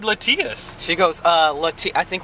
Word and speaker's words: Latias: about these about these Pokemon toys we got latias the legendary Pokemon latias let's see yes as we learned it's actually pronounced Lituya so you know what look at that that's